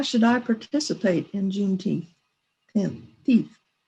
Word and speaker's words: Juneteenth: Well, now one of the questions that I heard, as a white person, how should I participate in Juneteenth? Teeth. How do you pronounce it?